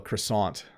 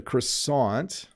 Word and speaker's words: croissant: flaky here is sadly i have to pronounce this in the way english speakers pronounce it this in canada is